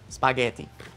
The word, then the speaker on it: spaghetti: That's the Italian for spaghetti, by the way. It's spaghetti, but note the pronunciation, spaghetti.